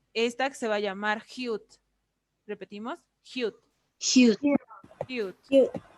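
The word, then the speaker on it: 히읗: Hute al principio va a sonar como J, al medio va a sonar como J y al final va a sonar como T, si lo tengo en pachín.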